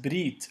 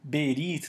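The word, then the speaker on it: ברית: sobre a palavra aliança a palavra aliança Brit ou berit dependendo da pronúncia que se adota no hebraico se escreve bait reage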